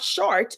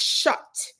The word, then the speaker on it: shut: So, and lay is not short. Short is like, you're short and I'm tall. It's shut, S-H-U-T.